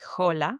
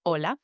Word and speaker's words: hola: see the letter H, don't pronounce it. Pretend it's not even there. The hallmark of a beginner learner pronouncing the H in words like hola, they could say hola with the H instead of hola.